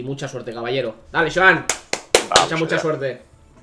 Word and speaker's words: Xoan: Joan, muy Joan. fuerte la X.